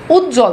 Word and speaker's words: উজ্জ্বল: আবার বফালা যুক্ত করছেন তার মানে এই বফলার উচ্চারণ নাই দেখেন আছে নাই উজ্জ্বল দেখেন এইযে জ এর সাথে অলরেডি বফলা যুক্ত